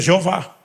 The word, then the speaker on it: Jeová: gente colocasse vogais aleatoriamente uma das possíveis traduções ou pronúncias seria Jeová em outras traduções ou cânticos a gente usa a expressão yavé mas são tentativas de imaginar como pronunciaria se as quatro consoantes que são impronunciáveis era o nome sagrado